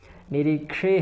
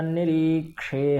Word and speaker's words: निरीक्षे: निरीक्षे हम य निरी ऐसा नहीं है निरी ऐसा है क्योंकि य है न यह वाला छ नहीं है छ वाला निरीक्षे है तो निरी ही कहेंगे निरी नहीं कहना है ठीक है और उच्चारण